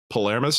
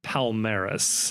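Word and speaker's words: Palmeiras: in second place tied on points with uh Polarmis. Is that right? Palmeris. Palmeris. Sorry. I never get to pronounce things correctly.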